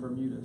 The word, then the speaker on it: Bermuda: Because he pronounced it Burma grass instead of Bermuda, so I was Burma grass.